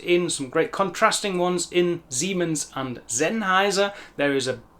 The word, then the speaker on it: Siemens: I-E says E, E-I says I. That's why the I-E in Siemens says E, Siemens, and the E-I in Sennheiser is the I sound, Sennheiser, Sennheiser.